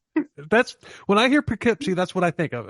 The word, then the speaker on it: Poughkeepsie: He was like the Poughkeepsie murderer and Stinky, the stinky serial killer.